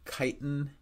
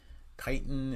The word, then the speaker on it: chitin: so they produ they produce a substance called chitin Titan it's spelled uh c h i t i n